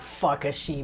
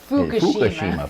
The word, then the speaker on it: Fukushima: crippled Fukushima Nuclear Plant not Fukushima what is it Fukushima Fukushima it is but it's all in the pronunciation you at the crippled